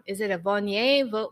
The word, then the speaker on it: Viognier: Is it a Viognier, Vaugner? Oh, Viognier.